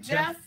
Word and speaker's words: Geoff: Is that how I pronounce his name? Jeff? Like Okay. Jay with a G.